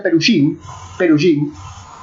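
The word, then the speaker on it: פרושים: La palabra fariseo viene del hebreo, que se pronuncia perujim, y significa separado.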